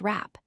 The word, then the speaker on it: wrap: The second word is rap, pronounced rap.